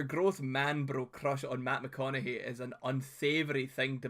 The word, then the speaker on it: McConaughey: McConaughey. Oh, it's because he's fucking spelt it wrong, right? Okay, sorry, E.B. Sorry, it's McConaughey, by the way. Like, Mick, like, as an MC, you dafty.